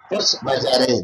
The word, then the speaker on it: force majeure: Force majeure, that is the pronunciation.